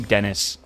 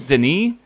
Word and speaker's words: Denis: Again, I don't think you're supposed to pronounce his name Dennis. I think it's Denis, like Villeneuve, or Villeneuve. It's French, right?